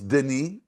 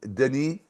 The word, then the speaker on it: Denis: No, the S is silent.